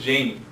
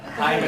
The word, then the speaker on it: Jaime: They always misconception with Jaime. Jaime to me was Jamie, so I get that a lot. Jaime, Jaime, Jaime.